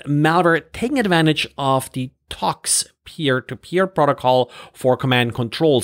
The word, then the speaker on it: Tox: taking advantage of the talks peer-to-peer protocol for command control so not tor with r instead talks with an x in the end and talks is well